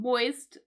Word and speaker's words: moist: Something moist is slightly damp. And you can see here that when I pronounce this, when I said moist, you can hear the T. So moist with the T.